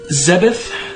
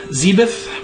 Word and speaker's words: Zebes: uh issue two zebeth zebuth whichever you prefer metroid other m the first in the series to have major voice acting they pronounce it zebes i never liked that personally but you know to each his own i like zeb's more but we can all